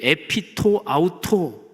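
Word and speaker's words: ἐπὶ τὸ αὐτό: 않은 표현이 거기 있습니다 헬로우 원문 발음으로 에 pto 아우토 라는 표현이 있는데 요 표현이 한글 성경에는 번역의 안 돼 있어요 근데 에 피토 아우토 요 표현이 사도행전 1장 15절에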